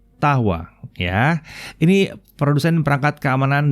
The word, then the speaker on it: Dahua: adalah dahwa oh salah Caranya bukan dakwah tapi cara membacanya adalah tahwa ya ini produsen perangkat